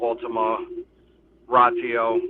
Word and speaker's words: Ultima Ratio: It's called Ultima Ratio. That's how you pronounce it for those who don't know.